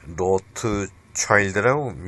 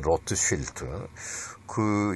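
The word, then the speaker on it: Rothschild: 그러면 로트차일드라고 영어 발음으로 그런데 로트쉴트 유태인의 금융인들로부터 히틀러가 어렸을 때부터 교육받을 때부터 도움을 받았고, 또 실제로 나중에 정치하면서도 로트쉴트 은행으로부터 정치 자금을 많이 받았습니다.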